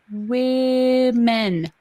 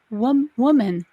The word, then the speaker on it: women: We have actually, his sisters have sat him down and worked on pronunciation. Women. And he's like, yeah, woman.